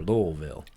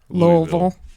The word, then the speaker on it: Louisville: Louisville, or Louisville? Louisville. It's two syllables.